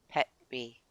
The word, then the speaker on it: Petri: Petri or Petri but um so yeah it is Peter in English but it would be pronounced like pet tree pet tree I phonetic spelling of.